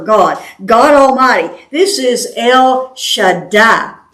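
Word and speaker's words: El Shaddai: God almighty this is L sh die anytime you have a word in Hebrew that has two consonants double consonant the the uh emphasis is on the second part like Betty would be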